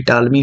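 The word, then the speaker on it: Ptolemy: पटेल बोल रहा हूं हालांकि टॉलमी होगा बट ये पी साइलेंट होता है बट ये देख लो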